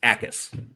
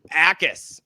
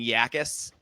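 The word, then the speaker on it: Jacas: It's so the J is silent. It's Akis. Akis. Okay. Gabe Akis. Yeah. Something I was saying Yakis, but yeah, okay, Akis.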